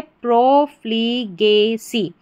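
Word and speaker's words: profligacy: ए गे, और सी वाई सी, तो पूरी स्पेलिंग हमारी क्या बन जाती है, प्रोफ्लीगेसी, यानी कि प्रोफ्लीगेसी।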